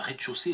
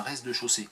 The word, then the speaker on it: rez-de-chaussée: L'éternité de Jean de Marc-Émile Tinet, ou Tinez, je sais pas, avec les EZ finaux, on ne sait jamais, normalement on les prononce pas, on dit un rez-de-chaussée et pas un rez-de-chaussée.